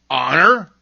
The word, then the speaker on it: honor: Other words that begin with silent H are honor, air, and honest.